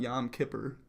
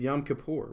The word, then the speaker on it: Yom Kippur: This is spelled right. It's not Yom Kippur. It's Yom Kippur, which is how I spelled it.